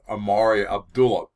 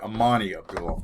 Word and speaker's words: Amani Abdullah: had uh was with amarya abdullah um um i'm sorry amani abdullah amani uh my um uh